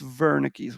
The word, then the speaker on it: Wernicke's: And I know it's spelled Wernicke's with a W, but it's Wernicke's region.